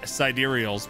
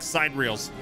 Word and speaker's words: Sidereals: It took me a while to read it as Sidereals because it looks like side reels.